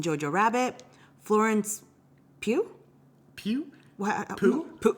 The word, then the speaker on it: Pugh: Pooh? How do you say her last name? Pugh. Okay, for Little Women. I think like Pugh instead of Pew.